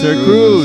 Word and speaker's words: Sirxcruzz: Sirxcruzz. What's up, man? Happy to be here. Thank you guys for having me. That Cool. X is silent.